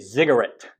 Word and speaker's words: ziggurat: So pretend you're saying cigarette and then change the C to a Z. You get ziggurat. It's a little bit different pronunciation, but it's easier to remember that way.